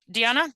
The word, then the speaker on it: Diana: Um, Diana, Diana. Yes. Hi. Hello. How are you? My name is D. Thank you for saying my name the right way.